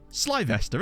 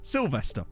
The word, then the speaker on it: Sylvester: to misspell it because it's not Sly vest there is it it's Sylvester but you shorten it to Sly and not Sill y my brain was like